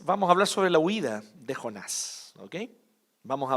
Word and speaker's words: huida: La huida de Jonás. Huida con H muda al inicio.